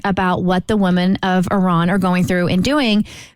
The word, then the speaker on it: Iran: And we wanted to shed a light on what's going on in, do you pronounce it Iran or Iran? Iran.